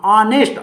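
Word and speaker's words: honest: ये मत देखना आप, ये एच साइलेंट है, क्या है ये, साइलेंट। ऐसे तुम्हारी परीक्षा में दूसरे भी पूछ सकता है, दे सकता है वो, आप उसका उच्चारण तलाश करें, क्या करेंगे, कई बच्चे यहां जाके गलती कर देते हैं कि ये एच देख लिया, अरे ये तो व्यंजन था, वहां जाके ए कर देगा। ऐसा मत करना, इसका उच्चारण पे जोड़ना, ऑनेस्ट, आ, तो ये क्या आ रहा, आ, ऑनेस्ट।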